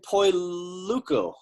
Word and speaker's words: Poluyko: And did you notice how I just skipped right past the mispronunciation that time, Margarita? Yes, I did. I'm going to say Poluyko.